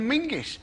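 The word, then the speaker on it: Menzies: gingger it's a lense in fact you should pronounce it John mingis apparently it's to do with a defunct Scottish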